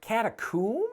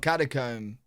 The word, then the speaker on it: catacomb: there and thought, ooh, catacomb? But surely you just pronounce it the same way you do comb. You think catacomb. Okay. So I do say that the British way, catacomb.